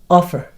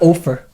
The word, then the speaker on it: offer: by the way uh the pronunciation is Right offer or oper offer offer yeah offer offer of course yeah not ofer okay unless like you know